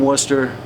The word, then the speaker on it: Worcester: My name is Worcester. Google that. You'll find everything you need to know, man. Spell it. Uh w O R C E S T E R like Worcester, Massachusetts. Right.